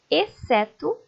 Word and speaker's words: exceto: Exceto, exceção, excelente. Perceberam que essas palavras, o C é pronunciado. O X acaba ficando sem ser pronunciado.